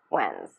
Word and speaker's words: when's: When is becomes when's. And the S is pronounced as the Z sound.